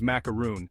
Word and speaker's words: macaroon: Macaroon, where the last syllable rhymes with soon.